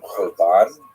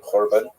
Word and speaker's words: korban: They tend to use the Hebrew term korban, usually pronounced with the Ashkenazic Yiddish pronunciation korban, which ties the Holocaust